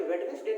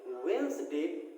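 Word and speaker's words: Wednesday: English ने बोला कि यहाँ पे जो डी है ये साइलेंट, ये लेटर क्या होगा? साइलेंट होगा। हमें इसे वेडनेसडे ना पढ़ के वेंसडे पढ़ना चाहिए।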